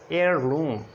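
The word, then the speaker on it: heirloom: और ये हावर नहीं है, और एयरलूम।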